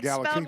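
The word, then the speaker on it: Galaxie: Or how do you don't say Galaxy, is it? Yeah, it is. Okay. Yeah, it is. Galaxy 500. It's spelled with an IIE E.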